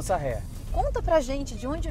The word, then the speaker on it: Saher: dúvida enorme, porque assim, Alan Sayer é a forma que você usa artisticamente seu nome, uhum, certo? Mas, gente, eu tava, né, fazendo uma pesquisa, conversei com Alan, e a pronúncia do nome dele é Alan Sarrer, é isso? Isso, Alan Sarrer.